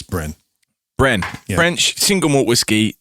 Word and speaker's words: Brenne: so this is it's bren i think i have no idea how you pronounce it b r e double n e i have researched that and yes you are correct it's bren bren french single malt